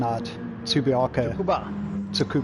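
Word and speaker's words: Tsukuba: turn what what what do you know about tsubako however you pronounce the track reaction tsubiako there we go is how you pronounce it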